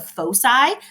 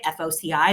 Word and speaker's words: foci: from two distinct points, which are called the foci. That's how you say it, F-O-C-I, the foci, is constant.